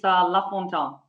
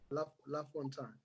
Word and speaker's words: Lafontant: Hey, Plot, it's Lafontant. Lafontant. Yes, silent T.